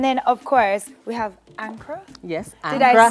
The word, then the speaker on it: Ankara: And then of course we have Ankara. Yes. Did I say it properly? You said it An- correctly. Ankara.